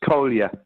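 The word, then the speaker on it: Kolja: Uh Jamie his his name is Kolia. It's uh it's K O L J A but but spelled uh pronounced Kolia and he's well everyone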